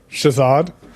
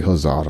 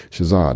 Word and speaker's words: Shazad: I was going to say Huzzad, and I knew that wasn't right. Shazad, no, I have not yet sent this computer back to Apple yet.